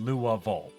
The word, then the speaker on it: Louisville: not Jefferson V Jeffersonville I don't know about Lille I've never heard it pronounced that way I've only overheard Lu V uh from people who like lived there and grew up there is is how I've learned it uh but there's you